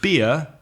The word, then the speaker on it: beer: And ear is like oreja, ear in English, which is beer that you drink.